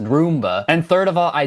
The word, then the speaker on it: Roomba: Second of all, it's pronounced Roomba.